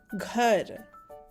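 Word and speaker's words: घर: In bold, we have the forceful version of the word g. So it's g, gh, girl, gh. And red r joins together to make the sound ghar. It's pronounced as ghar.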